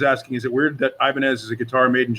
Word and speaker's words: Ibanez: So what's weird is that people don't pronounce it properly, that they still pronounce it Ibanez, but it's the proper is Ibanez.